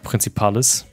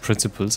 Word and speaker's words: 30 Principales: Den 30 Principales. Habe ich auch am Anfang falsch ausgesprochen, weil ich dachte, das heißt Principles, aber heißt es gar nicht.